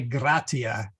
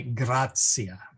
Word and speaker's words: gratia: And then the TI, when followed by a third vowel, becomes like a C sound, or tsitsi fly, like tsitsi fly, really. So we don't say gratia, we say grazia.